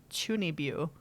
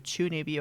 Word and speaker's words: chuunibyou: You ever heard of the word chunibyu? No. Okay, so it's CHUUNIBYOU, chunibyu. I think I'm pronouncing it right.